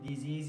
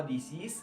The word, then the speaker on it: disease: ومنكرر ومنأكد على كلمة ديزيز يا جماعة، مش نطقها ديسيس لأن ده مشهور جدا، لا كاتش ذا ديزيز.